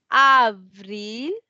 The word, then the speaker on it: avril: Fourth, we have Avril. So we are pronouncing Avril.